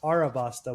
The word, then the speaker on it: Alabasta: Yeah, the prin- princess of Alabasta. I think that's how you it's pronounced, right? Uh it is Alabasta with an L. Uh it is pronounced Arabasta with an R. Oh, Arabasta, right.